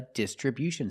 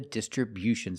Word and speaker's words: distribution: Distribution with a stress on the first and third syllable.